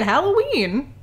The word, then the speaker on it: Halloween: That's how you say it. Halloween. It's an A. It's not an O."